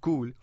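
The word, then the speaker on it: Cuil: next company is cool it's pronounced cool but is spelled c-u-i-l this story was back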